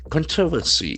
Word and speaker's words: controversy: So we can see there are 4 syllables. Controversy. That's a beautiful noun. Controversy. Controversy. And the accent falls on the first syllable.